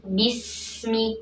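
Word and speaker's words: بسم الله: baca dulu ya bismillahirrohmanirohim pertama dikata bismillah kasrah sempurnakan menurunkan rahangnya di kemudian huruf ba ini kuat ya tidak alir nafas membacanya jelas kan Bi kemudian setelahnya huruf Sin Nah di sini Sin alir nafasnya alir suaranya kemudian hadirkan desis tajamnya bis ya bismillah tidak boleh disemi tidak memantul ya tapi alirkan Bismi kemudian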